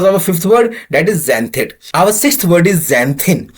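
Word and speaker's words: xanthine: sixth word is जंथ जिसका spelling हो गया एक्स ए एन टी एच आई एन ई एक्स ए एन टी एच आई एन ई और हिंदी में इसे हम लोग जैंथिन ही कहेंगे इंग्लिश में एक्सप्लेन करके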